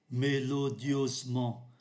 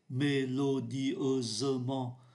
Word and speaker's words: mélodieusement: Melodiosement, ở đây chúng ta không phát âm ký tự ơ ở giữa. Melodiosement, melodiosement. Chúng ta phát âm tới ký tự S, và S đây là phát âm là Z, và không phát âm ký tự ơ. Người ta không phát âm mạnh melodieusement, mà người ta phát âm là melodiosement.